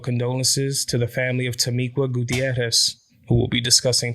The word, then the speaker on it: Tamiqua: If you saw that TikTok video about Tamiqua, you'll notice that I was pronouncing her name Tamiqua.